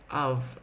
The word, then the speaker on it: of: and finally of here the O is making an a sound and the f is making a v sound so this is quite a difficult word um if you're spelling phonetically but just it's one you just need to memorize that this says of like lots of money or